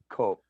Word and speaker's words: coq: And it's pronounced coq.